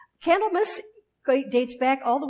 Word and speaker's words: Candlemas: day as candle mmus which is spelled candle and then mas on the end candle --mess great dates back all